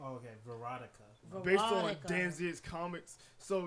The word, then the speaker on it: Veronica: It's actually it's Veronica, like erotic, but with a V. Oh, okay, Veronica.